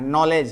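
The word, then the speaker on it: knowledge: है ना वहां पर के का उच्चारण नहीं होता है ना उसी प्रकार नॉलेज है नाइफ है तो उस प्रकार वो इंग्लिश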